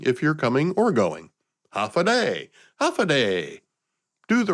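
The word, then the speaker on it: Håfa Adai: There is a native language called Chammoro, and they have a universal phrase similar to Hawaii's aloha that's pronounced half a day. It's a greeting if you're coming or going. Half a day.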